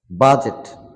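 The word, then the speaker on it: budget: উচ্চারিত হবে না সুদর্শ বাজেট এখানে ডি উচ্চারিত হবে না বাজেট বাজেট রিজ রিজ মানে পাহাড়ের কিনারা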